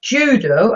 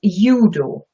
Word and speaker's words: Judo: Yeah, here the pronunciation is a little bit different. It's not judo as in English, it's judo.